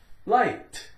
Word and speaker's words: light: G-H, silent. L-I, lie. L-I, lie. T, light. Light.